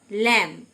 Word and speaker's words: lamb: ল্যাম, LAMB, be silent.